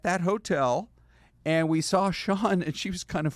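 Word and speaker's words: Sian: And on the right is Shawn, uh, which is spelled S I A N. And, uh, it's like the name Shawn basically uh, for a woman.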